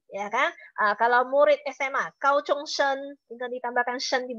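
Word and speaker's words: 高中: Satu bacanya adalah chuchong, satu lagi bacanya adalah kauchong ya.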